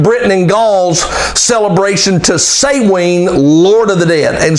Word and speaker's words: Samhain: day that they worship that had celebration for say Wayne it's spelled sa m and H AI n Samhain but it's pronounced say Wayne Lord of the Dead who in the Roman